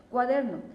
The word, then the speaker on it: cuaderno: Cuaderno, no es lo mismo decir cuaderno, cuaderno, cuaderno. ¿Oímos la diferencia? Si tú observas, la fuerza está en der, entonces su sílaba tónica es der, no se acentúa por